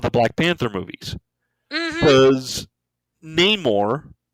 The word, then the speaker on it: Namor: Black Panther movies because Namor or Namor if you wanna you know go a little with with the pronunciation as the movie as the movie kind of said you know sin Amor um the thing that